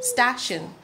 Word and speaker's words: station: going to the station stashin let's say stashin I'm going to the station this is just for pronunciation to help you know what littles gonna come next stop shin ah ah Shin stashin station which letter do you